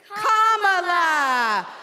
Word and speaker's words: Kamala: First, you say comma like a comma in a sentence. Then you say la like la. Put it together and it's one, two, three, comma.